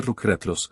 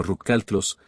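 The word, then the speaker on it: rückhaltlos: Señores, no se dice rucratlos, sino rucaltlos, sin reservas, risas, y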